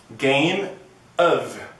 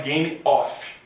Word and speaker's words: Game of Thrones: de se pronunciar então Observe Game of não é game off quando você tem só of que é a preposição de do Você tem o som de of som de v ok Você só fala off quando for o f f como for of é of então Game of e não é Thrones